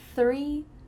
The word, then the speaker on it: three: I see 3 trees. I see 3 trees. That THR is really tricky.